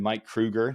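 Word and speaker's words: Mike Kroeger: So, we had a we had Mike Krueger.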